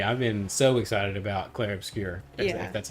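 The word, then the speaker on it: Clair Obscur: I've been so excited about Claire Obscure.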